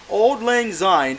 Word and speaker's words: Auld Lang Syne: I'm going to butcher the name how to pronounce it. Okay, it's okay. Think of the bar in Singapore. And Paris, technically. Auld Lang Syne.